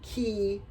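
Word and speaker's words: 기: something like that um key is the Korean version of that so that means energy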